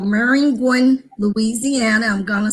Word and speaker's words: Maringouin: I'm actually from a little town west of Baton Rouge called Maringouin, Louisiana. I'm going to spell it because as we move on along in our conversation, you're going to want to know about Maringouin.